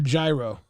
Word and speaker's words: gyro: Do you pronounce it Euro or gyro? Gyro, no? It's a Euro is how they pronounce it officially.